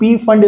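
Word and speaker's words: Pfund: हो जाए, this is फंड series. P silent होता है बेटा, ठीक है, कुछ लोग P फंड इसका प्रोनाउंसिएशन कर देते हैं, उससे कोई फर्क नहीं पड़ता।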